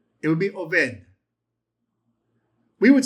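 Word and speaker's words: עֹבֵד: Obed. Very close. You would say Oved. Oved. Why did I use a v rather than a b? It would be Oved.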